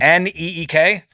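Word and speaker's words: Nique: points in his sleep NE K uh that's how it's pronounced okay I think it's ni I qu e okay that makes a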